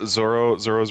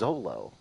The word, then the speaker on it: Zoro: You know, Zoro's really cool. Is My it favorite Zoro? I is always thought it was Zolo.